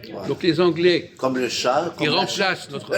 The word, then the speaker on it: chat: Donc les Anglais, Comme le chat. Comme ils la remplacent notre... La chatte. Ils n'arrivent pas à prononcer chat, ils disent cat.